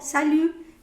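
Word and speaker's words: salut: yo normal comenzaría diciendo sal que esa es otra forma de saludar pero no sé si esan formal ver conseguí all que anot pues Exacto que realmente se escribe salud pero no pronuncia Okay entonces vamos a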